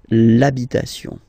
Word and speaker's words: l'habitation: for the masculine part, even if you've got this H, then the first sound you hear is A, okay, so for the same reason you will have to take this A away, and then you get this l'habitation, l'habitation, okay, and then I've